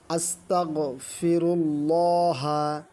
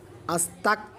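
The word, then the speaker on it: أستغفر الله: আস্তাগফিরুল্লাহা। আস্তাগফিরুল্লাহা। এখানে ভুলেও যেন কাফ উচ্চারণ না আসে। আস্তাক যেন না বলি। আমরা বলব আস্তা।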